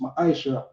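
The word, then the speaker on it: מעשר: Means tenth in the Hebrew and is pronounced ma'ashra.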